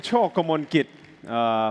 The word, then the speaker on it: Chokomonkit: And I'm Chokomonkit. For those of you who might have problem pronouncing Thai last name, as in Tintin, the cartoon character. Chokomonkit as in choke a monkey, so you can remember my name from now.